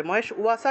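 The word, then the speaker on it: মহেশ্বাসাঃ: মহেশ ওয়াসা উচ্চারণ হবে মহেশ ওয়াসা কেন হলো কারণ এখানে বফলা আছে বফলা থাকলেই উচ্চারণটা আসে তাহলে অত্র সৌরা মহেশ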